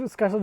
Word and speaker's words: Skarsgård: It's Scar, Scarred. What? Scar, like a scar, Scar. and then like guard with an S first.